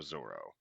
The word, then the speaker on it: Zoro: They arrive at base headquarters, where just outside, tied to a stake bleeding, is Roronoa Zoro. And yes, I'll be using Zoro as the pronunciation despite Viz's spelling.